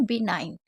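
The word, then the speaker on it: benign: B9, क्योंकि आई को आई पढ़ा जा रहा है और एन को ना पढ़ रहे हैं, और जी हमारा साइलेंट है।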